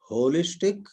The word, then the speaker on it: wholistic: Holistic, spelled as WHOLISTIC, or holistic, pronunciation is the same, HOLISTIC.